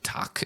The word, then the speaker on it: tak: Tak is how you say that in Danish.